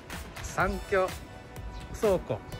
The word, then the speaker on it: 山居倉庫: 山井倉庫って読むのかな、なんて読むかちょっとわからないんですけど、来てみました。南に進みます。三峡倉庫と読むそうです。